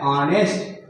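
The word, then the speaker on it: honest: ऑनेस्ट मैन, तो यहाँ पर एच चूंकि कॉन्सोनेंट दिखाई दे रहा है, लेकिन इसका उच्चारण जो है वॉवेल की तरह रहा है, तो यहाँ पर हम लोग ए एन का प्रयोग करेंगे।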